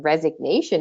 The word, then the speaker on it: resignation: it sure is and in resignation it sure is so when we look